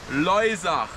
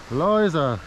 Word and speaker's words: Loisach: So, how do you pronounce this river? Loisach. Loisach. Loisach.